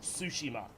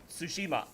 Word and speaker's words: Tsushima: because apparently a character in the game incorrectly pronounces it sushima so apparently re eating sushi on ghost of sushima it's tsushima but I I guess that sounds the same